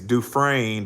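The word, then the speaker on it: Dufresne: His name is Chris and his last name is Duffrain, but it's spelled D U F R E S Nes.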